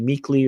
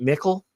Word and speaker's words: Meikle: Then my last name, Meikle, it's pronounced. It's funny. Someone did a show on one of my tweets, and they called me Meekley or or whatever. And I don't mind. It's funny, but it's actually Meikle, or you pronounce it Mickle.